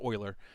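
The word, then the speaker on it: Euler: different amplitudes right so it's it's wave math Oiler stuff it's it's spelled uler by the way but it's pronounced Oiler um I remember that much from college uh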